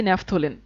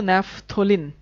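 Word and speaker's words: naphthalene: বন্ধন তিনটা এবার দেখি ন্যাপথলিন উচ্চারণ কিন্তু ন্যাপথলিন ন্যাপথলিন ন্যাপথেলিন না ন্যাপথালিন না ন্যাপথলিন ওকে নেফথলিনের ক্ষেত্রে কি আসে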